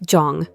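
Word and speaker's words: 정: In many Korean families, there's a concept called jung, often pronounced like jong.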